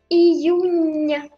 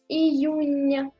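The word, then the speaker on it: июня: Iyunya, nya. C'est pas na à la fin, c'est nya. Iyunya, juin.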